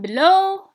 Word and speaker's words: below: We have also an exception, but in below and the other stress is on the second syllable. علاش in the second syllable? Because the first contains schwa كيف كيما les autres exemples.